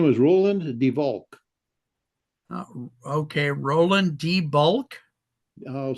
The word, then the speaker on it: Devol: here his name was Roland Devol okay Roland debul I'll spell it for you Roland first name and then